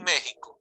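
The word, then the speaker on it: México: Mexico y Mexico, in Mexico. Mexico, but you always pronounce Mexico because the X is now pronounced like the J, like it was.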